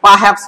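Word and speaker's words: perhaps: তো এখানে দেখো যে পারহ্যাপস এই যে মাঝখানে আছে, র এর কোনো উচ্চারণ নেই, তুমি পারহ্যাপস বললেই হবে।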